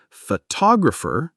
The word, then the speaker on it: photographer: Number 3, word stress. In English, we stress one syllable more than others. For example, photographer, noun, versus photography, noun plus suffix. Stress the wrong syllable, and it sounds off. Exactly.